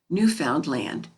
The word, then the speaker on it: Newfoundland: will tell you that the name of their country is pronounced with the accent on the last syllable new found land the main street of